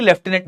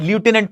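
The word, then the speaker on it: lieutenant: American English में इसको simply लेफ्टिनेंट लूटिनेंट पढ़ा जाता है। ब्रिटिश इंग्लिश में इसको लेफ्टिनेंट पढ़ा जाता है। दोनों प्रोनाउंसिएशन सही हैं।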